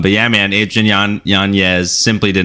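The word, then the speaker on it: Yanez: we say this right Nano okay it's not janz anymore it's yanes and he actually changed the pronunciation of this for his child um because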